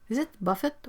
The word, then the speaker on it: buffet: Buffett so we have Buffet is a French word Buffet it's pronounced like in French and German Buffet I prefer that